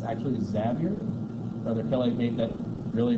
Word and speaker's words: Xavier: in you know St X as sometimes people mispronounce it St Francis Xavier it's actually zavier brother Kelly made that really really aware to